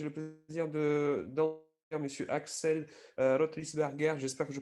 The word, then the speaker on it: Rothlisberger: Avec grand plaisir, j'ai le plaisir d'entendre Monsieur Axel Rotlisberger. J'espère que je prononce bien votre nom, je m'excuse.